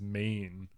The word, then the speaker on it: Meehan: Well, Lucky, speaking of him, he introduces me properly, which no one else does, where he says mean, Oh, right. which is actually the like Irish pronunciation.